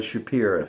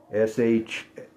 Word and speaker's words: Shapira: States, owned by the Shapira family. S-H-A-P-I-R-A. It's not just my hick pronunciation. It really is spelled Shapira.